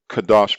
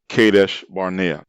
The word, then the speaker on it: Kadesh: terrible piranha wilderness northward to kadash barnai mispronounced kadesh which is located in the